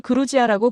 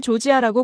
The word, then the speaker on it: 조지아: 전 세계가 조지아를 그루지아라고 불렀던 겁니다. 러시아식 발음이었어요. 조지아 사람들에게 그건 치욕이었습니다. 식민지배의 흔적이니까요. 조지아 정부는 전 세계에 호소했습니다. 제발 우리를 조지아라고 불러 달라고요. 그루지아가 아니라 조지아로요.